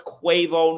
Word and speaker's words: Quavo: and I know earlier I was saying the name wrong quavo I know it's quavo now okay quavo but his birth